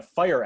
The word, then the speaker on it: FHIR: creating an fhir app if i'm not mistaken it's pronounced fire am i correct kevin yep so creating a fire app for uh covid19